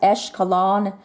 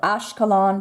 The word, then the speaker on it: Ashkelon: And then you've also got Esh, Esh this, Esh that, Eshkelon. Sometimes it's pronounced and spelled Ashkelon, but you've got very many names with E-S-C-H.